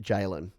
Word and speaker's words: Jalen: Jalen says, my name is pronounced Jalen. Got it. Let's just lock it to memory, shall we? Jalen. The only way I can do this is, I hope you ain't be jailing anyone anytime soon.